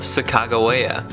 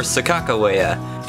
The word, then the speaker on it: Sacagawea: final resting place of Sacagawea or Sacagawea or Sakakawea she has several different names and pronunciations I'll stick with Chicago in this video because it's generally the most used and agreed-upon name and pronunciation she was born a